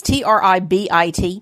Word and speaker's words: Tribit: And this is a Bluetooth speaker by a company called Tribit, or I've heard it pronounced Tribit as well, but I think Tribit like ribbit, like frog. So it's Tribit.